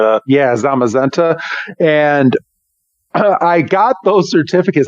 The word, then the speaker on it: Zamazenta: is it called Zeta is that how you pronounce it I think it's like zamazenta or something like that yeah zamazenta and I got those certificates I didn't know